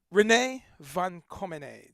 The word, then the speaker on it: René van Commenée: René van Commenée. Did I pronounce it right?